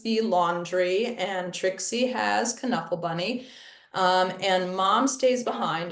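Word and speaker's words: Knuffle Bunny: Williams is Dutch and in Dutch the K is hard and actually in Dutch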